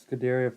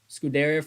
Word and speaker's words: Scuderia: Scaderia Ferrari. Scuderia Ferrari. Oh, my bad. Did I say it wrong? I said it wrong, Reggie.